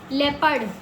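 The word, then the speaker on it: leopard: पड़ी जेपड़ डी मतलब अगर ओ के पहले इ आ जाता है तो ई साइलेंट हो गया सॉरी ओ साइलेंट हो गया और इ का प्रोनाउन ई आ जाता है क्लियर ओ के उच्चारण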